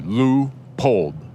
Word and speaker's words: Leupold: Leupold, the optics company, is like L-U, like a long U, Leupold.